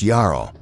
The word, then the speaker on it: Jarl: Our focus shifts to the figure of the Jarro, pronounced Yarao, a title signifying a position of immense authority and profound respect.